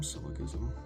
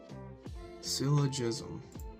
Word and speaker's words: syllogism: Syllicism. How do you pronounce that? Let me look up. Syllogism. Syllogism. Syllogism. All righty. Now, I know how to pronounce that.